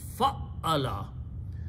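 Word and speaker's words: فعّل: In bab number two, we just put a tashdeed or shadda on the middle letter, which means we are repeating the ayn two times. So it's pronounced fa'ala.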